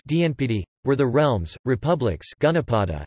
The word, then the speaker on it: Janapadas: The Janapadas, pronounced Dnpd, were the realms, republics, Gunapada, and kingdoms, Samarajya, of the Vedic period on the Indian subcontinent.